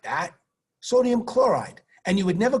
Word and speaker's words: chloride: Magnesium oxide, sodium chloride, IDE, ends in "ide," rhymes with tide, rhymes with lied.